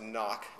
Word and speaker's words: NOC: name of noc and it is pronounced knock house of playing cards